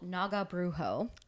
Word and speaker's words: Naga Brujo: Texas I believe so Texas band um called Naga brujo love that I love it too and yes I did ask them how to pronounce their band name so she how do